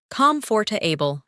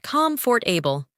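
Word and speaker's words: comfortable: Comforable, not comfort for able.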